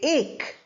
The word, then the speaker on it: ache: We don't say a k or a key. We say ache.